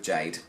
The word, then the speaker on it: Ga-de: Jade yeah it's spelt guarde but it's actually pronounced Jade I looked them up and looked at some of their adverts that they've done before online and they pronounce it Jade so we're going with Jade so yeah there's never there's not any surprises